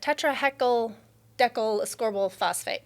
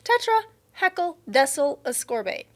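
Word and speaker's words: tetrahexyldecyl ascorbate: Tetra heckle decalcorbal phosphate. No, no, no, that's not it. Tetra, I want to say it. Tetra heckle desol ascorbate. That's it.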